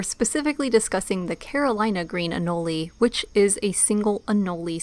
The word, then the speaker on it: anole: From what we've gathered, it's more appropriate to say Anole, but the other pronunciation is becoming more and more widespread, though